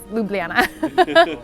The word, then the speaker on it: Ljubljana: Ljubljana yeah I know if you take the J's out just ignore the J's and it's Ljubljana if you wonder how